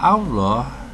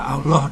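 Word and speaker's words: الله: Berarti kalau ada lafaz Allah kok sebelumnya ada fathah atau dhammah, maka Allah dibaca tebal. Cara membacanya adalah minallah, Rasulullah. Tapi kalau lafaz Allah sebelumnya berharakat kasrah, maka Allah dibaca tipis.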